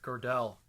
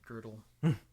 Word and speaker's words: Gödel: So I mean, this is why guys like Kurt Gödel, depending on how you pronounce it, Gödel.